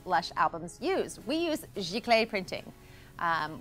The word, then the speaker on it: Giclée: We use XI Clay printing. Um, which of course is fabulous to say, Jaclay printing.